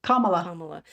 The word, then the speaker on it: Kamala: name which onea C camela it's like P think it's like Pamela Pam comma comma so kamala's family should